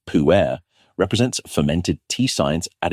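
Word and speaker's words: pu-erh: The puerh tea, it's pronounced puerh, represents fermented tea science at its most sophisticated.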